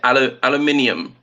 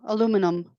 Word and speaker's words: aluminium: So for me, I would always say aluminium. No, aluminum. I know. There is a difference, yeah, between the British and the American pronunciation for aluminum, aluminium.